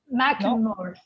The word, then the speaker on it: Macklemore: Macklemore. Mac. Like Mac, mac and cheese.